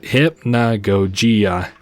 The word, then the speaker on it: Hypnagogia: Okay, you pronounce it Hypnagogia.